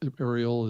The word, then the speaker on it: Arielle: to stand out so welcome to the show ariel it's great to have you join us thank